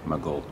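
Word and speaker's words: Maghull: Maj hu toe below we pronounce it my goal he's gone is going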